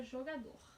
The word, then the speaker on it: jogador: A folhinha tá com a palavra jogador. Qual é a sílaba?